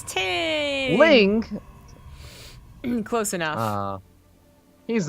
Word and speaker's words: Ting: It rhymes with ding. The dingus. Ting? It's Ting!